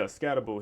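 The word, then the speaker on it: Skattebo: Yeah, Scatterbo.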